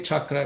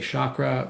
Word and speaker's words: chakra: familiar, by the way, I say chakra because that's more of the Sanskrit sound, and most Americans say chakra, which is totally fine, but I just say chakra.